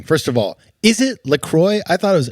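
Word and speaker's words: LaCroix: of all is it lroy I thought it was laqua that's what I say well the I think the idea is it rhymes with enjoy is what they say but iy rhymes with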